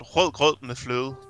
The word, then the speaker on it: rød grød med fløde: It's called rød grød med fløde. That's how you say it in Danish.